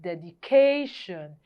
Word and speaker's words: dedication: word is dedication and because this word ends with the Tio n there's a rule that says the stress falls on the penalty imate syllable there so that is why dedication the answer is a um which is the C the ca part of dedication is stressed the second International International